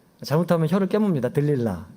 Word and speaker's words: 들릴라: 들릴라. 네. 그녀의 이름은 들릴라. 예전에 삼손과 데릴라 할 때 하여튼 데릴라라고 이렇게 영화 속에서도 나오는데 여기서는 들릴라라고 나와요. 똑같은 인물입니다. 데릴라, 들릴라. 들릴라.